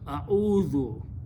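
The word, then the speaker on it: أعوذ: Okay, so the word now becomes, this will remain same, this will remain same, except that this will have a pesh here and a sukoon there. So it becomes a'udhu.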